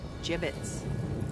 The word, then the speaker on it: gibbets: It's pronounced gibbets.